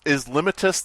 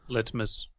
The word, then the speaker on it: litmus: Litmus. Oh, it is. Okay. Yeah. Jennifer it's not limitus, but it is litmus.